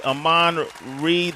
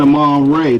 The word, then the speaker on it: Amon Ra: Amon Reed, the 8th sign. Now, did I say it correctly, Amon? I'm saying Amon Ray, the A sign.